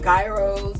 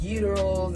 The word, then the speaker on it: gyros: fries and burgers and i grew up calling them gyros but i learned they're called uterus and there's still like a debate about how you pronounce it but it's you